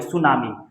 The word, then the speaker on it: tsunami: जो कि गलत है सुनामी के शुरू में टी लगा देना इसमें टी साइलेंट रहता है टी एस यू एन ए एम आई सुनामी सुनामी जो है जापानी